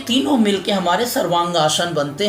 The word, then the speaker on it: सर्वांगासन: सर्वांगासन, जो कि हम लोग बहुत बार अंग्रेजी में हम लोग इसका उच्चारण थोड़ा अलग ढंग से करते हैं, सर्वांगासना कहते हैं, लेकिन ये शुद्ध जो शब्द है वो संस्कृत का है और इसका शुद्ध उच्चारण है सर्वांगासन।